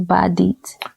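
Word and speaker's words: Badeat: Okay, so it's B-A, that's one word, and it's D-E-A-T. Okay. Or it could be, they spell it that way, or to help pronounce it, it could be D-E-E-T. So it's Badit.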